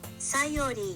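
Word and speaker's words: Sayori: Scori Scori Scori Scori Scori Scori Scori Enrique Scori Scori Okay, I'm going to call that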